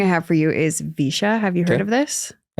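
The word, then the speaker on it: VEISHEA: And it's spelled, let's see, V E I S H E A. Oh, definitely. I haven't heard of that. The spelling is that threw me way off.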